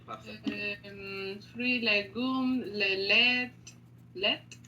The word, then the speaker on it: lait: Lait? Le lait. Attention, le T, on ne prononce pas.